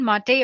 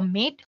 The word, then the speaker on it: MATE: the mate desktop environment let me pronounce it m a you can call it whatever you want mate or mate desktop environment so as you can